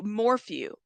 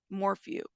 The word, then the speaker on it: Morphew: Is it Morphew? Thank you. Thank you guys, because I am not trying to, brutally murder someone's last name. So thank you. Hey, nonsense. Okay, Morphew. Morphew. That's how you say it.